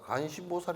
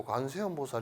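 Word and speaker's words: 관세음보살: 주지 스님 은 그것 이 " 간신 보살 " 이 아니라 " 관세음 보살 " 이라는 것 을 깨닫고 할머니 에게 " 할머니 , 그렇게 발음 하지 마시고 ' 관세음 보살 ' 이라 고 발음 하세요 ." 라고 말 했습니다 .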